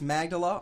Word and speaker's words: Magdala: It's number 2 off the CD, Magdala. That's how you say it, correct? All right. It's number 2. It's Magdala off of the new CD, Two Steps from the Road.